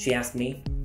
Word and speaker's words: asked: で sheas me でこれ歌詞ではですね as てなってるんですけどこれ s 発音しないんで気をつけましょう asked me I ですねで